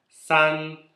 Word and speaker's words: 三: San. S-A-N no primeiro tom.